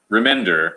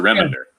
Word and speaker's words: Remender: it remember not remember remender as opposed to reminder all right there you